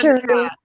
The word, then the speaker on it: Cherie: It's Cherie.